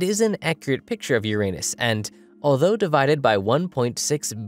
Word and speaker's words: Uranus: Yeah, I pronounce the planet's name Uranus, which is likely closer to the initial intonation of the name of the god after it was designated.